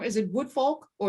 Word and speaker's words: Woodfolk: Is it Woodfolk or is it Woodfolk? Woodfolk. Yeah, you're saying it right.